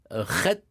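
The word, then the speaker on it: חית: Autre lettre gutturale, c'est le het, que les Israéliens prononcent aujourd'hui chet, Oui. comme la jota Oui. espagnole, et c'est une lettre initiatique par excellence.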